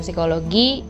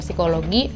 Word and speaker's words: Psikologi: Iya, Fakultas Pendidikan Psikologi di Universitas Negeri Jakarta. Program studinya S1 Psikologi. Bacanya gimana sih? Psikologi apa psikologi? P-nya nggak usah dibaca.